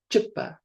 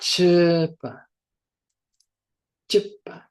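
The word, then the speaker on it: གཅོད་པ: listening carefully there uh because there's this da suffix this d at the end we do we cut off the sound of the vowel quickly. So it's chipa chip not cha chipa.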